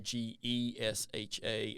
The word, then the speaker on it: Gesha: these actual Ethiopian originals, you'll see it's usually spelled Gesha, Gesha, as opposed to Geisha, Okay. which is, everybody kind of knows, but it's called both things in the industry. Some people say, well, if it's real, it should be called Gesha instead of the geisha, spelling.